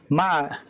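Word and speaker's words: مع: Min is from, fi is in, ila is to, with, ma, it's pronounced ma, with, ala, on, qaribun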